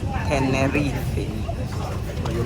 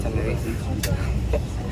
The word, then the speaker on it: Tenerife: So that's how the Spaniards pronounce it. Tenerife. British or Nigerians pronounce it Tenerife.